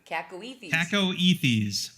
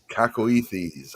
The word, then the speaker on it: cacoethes: Cacoethes. Otherwise known as fuck it. Fuck it as a proper noun. How do you say it again? Cacoethes. Cacoethes.